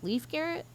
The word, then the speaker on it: Leif Garrett: Leif Garrett?